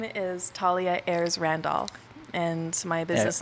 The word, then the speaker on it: Thalia Ayres Randolph: sitting to the right of me i got talia ayers novu that's how you say right no oh wow i butchered it right off the right off the